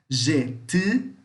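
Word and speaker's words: jety: A batata doce pode ser traduzida como jeti, jeti, atenção ao som, jeti, tá? Língua no céu da boca ou fechando a boca fazendo um bico, pronunciando U, o gutural, tá? O U grave, tá?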